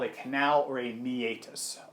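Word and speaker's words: meatus: call a canal or Amy ATIS this term does have three syllables to it me 8 us not to meet us I did kind of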